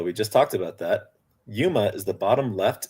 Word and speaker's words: Yuma: Did I pronounce Yuma correctly? Yes, yes.